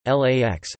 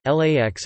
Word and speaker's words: LAX: The airport is most often referred to by its IATA airport code and FAA LID LAX, with the letters pronounced individually.